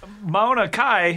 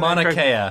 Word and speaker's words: Mauna Kea: a crab shack uh mauna kai if i'm pronouncing mauna kea mauna kea uh is that mauna kea is the tallest